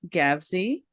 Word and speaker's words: Gavsie: allaround amazing guy gavy how you doing today I am doing great especially because first of all thank you for that great introduction and you pronounced my last name correctly over the past month